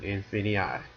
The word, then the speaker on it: Infinii: of what is infinii yeah that's how you pronounce it infinii so basically uh what what infinii is uh